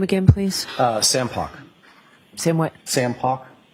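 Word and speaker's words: Poch: Sam Pock. Sam what? Sam Pock. Spell it, please, the last name?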